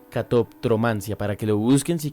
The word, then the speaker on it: catoptromancia: lo había escuchado sí Y es un poquito inclusive difícil de pronunciar catop cromancia por esa como se junta la p con la t catoptromancia para que lo busquen